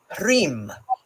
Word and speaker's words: Hrym: Here we have mentioned in stanza 50, Hrym is how it's pronounced.